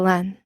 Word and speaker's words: LAN: mainframes of different makes the lan pronounced like land without the d may be connected to